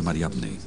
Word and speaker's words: Mariamne: era un apóstol en el movimiento cristiano más antiguo, entonces la designación de Mara en el osario de Mariamne podría indicar algo extraordinario.